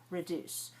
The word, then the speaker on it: reduce: When I say the word reduce, that has two syllables, reduce.